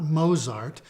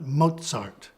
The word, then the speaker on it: Mozart: letter z in German this is pronounced as a combination of T and S as in Mozart it's not mosart but Mozart so as we just